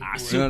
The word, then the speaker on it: Azul: We had to say it right. It's Azul.